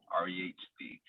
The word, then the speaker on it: REHD: REHD. H is silent.